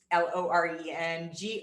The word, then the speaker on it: Loren Greiff: So Loren Greiff, it's Loren Greiff for anybody who understands the Austrian way of pronunciation.